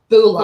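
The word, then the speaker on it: Bhula: A bit like the Fijian hello, but it's spelled B-H-U-L-A. Bula.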